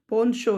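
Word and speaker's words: penchant: ठीक है, ये मैंने यहाँ पे प्रोनाउंसिएशन बता देता हूँ, ये पोन्शो है, ये लगता नहीं है कि इसका प्रोनाउंसिएशन ऐसा होगा। Strong liking for something is called पोन्शो, पोन्शो, ये प्रोनाउंसिएशन होगी इसकी।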